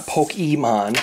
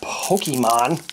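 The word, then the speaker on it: Pokémon: It's not Pokemon. It's Pokemon. That's what the thing over the E is. It's not Spanish. Pokemon is not Spanish.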